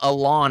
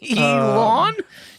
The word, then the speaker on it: Elon: run it back he used to call him Alon and that's the first time I'm I'mma use